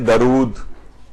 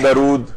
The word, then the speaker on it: درود: غلطی ہے تلفظ کی، لوگ اسے پڑھتے ہیں درود، اور اردو میں بھی استعمال ہوتا ہے کہ بھئی دم درود، آپ نے سنا ہوگا، تو یہ درود نہیں ہے بلکہ ہے درود۔ دال کے اوپر زبر